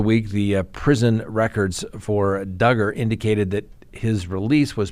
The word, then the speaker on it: Duggar: presumption of innocence Josh Duggar rhymes with hugger we haven't talked about